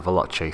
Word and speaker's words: Veloce: for the Nike Mercurial Veloce 3, or some people pronounce it the Veloce 3.